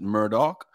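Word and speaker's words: Murdaugh: spelled like that murder but they could they pronounce it Murdoch but I guess Netflix just came out with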